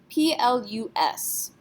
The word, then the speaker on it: plus: So we have P-L-U-S. How would you say that letter in French? What do you think? S is not a careful letter, so we would pronounce this plus.